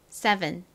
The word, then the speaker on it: seven: 다음 7도 S의 뒤에 모음이 왔잖아요. 그러니까 여기도 S가 그냥 S 소리가 아니라 좀 세게 쌍시옷 소리처럼 발음이 나겠죠. 다음 2는 에, 어이가 없네. 에, 어이 중에서 에 소리로 쓰였습니다. 다음 V는 V 소리가 나죠. 진동이 들어간 비읍 소리. 다음 EN에서 E는 별다른 소리가 나지 않아요. 그래서 요렇게 끝부분이 발음이 납니다. 따라해보세요. Seven. Seven.